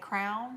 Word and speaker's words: crayon: second grade crayon or crown crayon crayon but we know people that say crown yeah our crayon yeah